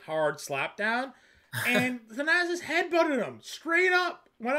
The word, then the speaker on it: Thanasis: Was it Thanasis? Is that how you say his name?